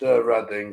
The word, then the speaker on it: Reading: It's pronounced Reading because I've been to the festival there a couple of times and it rules.